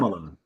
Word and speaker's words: Tamala: Is how you pronounce Tamala.